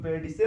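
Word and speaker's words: pedicel: इसको उच्चारण कुछ लोग पेडिसिल कहते हैं, कुछ लोग पेडिकल भी पढ़ते हैं।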